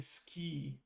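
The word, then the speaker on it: 好き: And it's interesting because you also kind of have to like omit like the u is silent. It's like you're saying ski.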